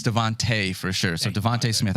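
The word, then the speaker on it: DeVonta: Tyreek Hill and then Devonte Smith is it Devonte or devont it's Devonte correct Devonte sounds right to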